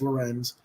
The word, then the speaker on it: Lorenz: favorite Duncan for gay now Lorenz I don't you know L rnz it's it's pronounced Lorenz I'm not familiar with